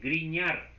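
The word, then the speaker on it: Grignard: palabra en francés y la gn se pronuncia como ñ guiñar así se pronuncia a la gn en francés como en griñán Bueno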